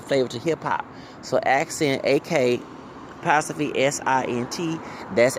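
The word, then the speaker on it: Ak'Sent: If you wanted someone to portray you, please get Accent. And Accent is spelled AK apostrophe SINT. Instead of saying Accent ACCENT, like you put on your food.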